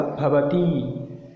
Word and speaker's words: भवती: तो इसका प्रनाउंस होगा पहला का भवती और इसका होगा भवती, थोड़ा इसका प्रनाउंस दीर्घ होगा।